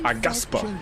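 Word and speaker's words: Aghasba: That's how you pronounce it. Agaspa.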